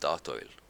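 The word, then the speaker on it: Statoil: the Norwegians took with the country's High that's pronounced St oil by the way yeah but yeah they're going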